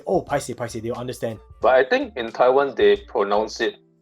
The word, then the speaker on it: paiseh: There are a lot of people that don't actually pronounce the word paiseh the way we pronounce it because we are Chinese, right? Like I realize that my Malay friends or my Indian friends usually will say it like an English word.